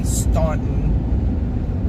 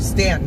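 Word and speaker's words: Staunton: Our target area right now is going to be Stuntton. Stanton, I guess they pronounce it.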